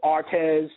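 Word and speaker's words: Aretz: So Artez, the second one, A-D-A-M-A-H, Adama, reddish mole.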